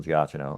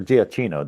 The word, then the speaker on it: Giacchino: It's got a great score by Michael Giacchino or Giacchino, depending on how you want to pronounce it.